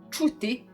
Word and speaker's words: čuti: So č, čuti, to hear means, and like č in the chat.